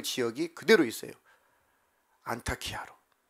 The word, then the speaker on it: 안타키아: 그 지역이 그대로 있어요 안타키아로 안타키아 안티오키아 뭐 발음차인데 안타키아라고도 하기도 하고 안티오피아라고도 하게 돼요 지금 여전히 그 지명이